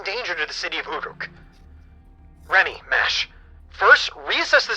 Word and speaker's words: Uruk: Oh, Uruk is how it's pronounced.